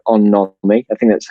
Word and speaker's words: On-nomi: idea from Japan called On-nomi. I think that's how you say it. It's on and then N-O-M-I.